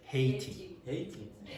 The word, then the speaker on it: Haiti: How do you pronounce that? Haiti. So in English you would say Haiti.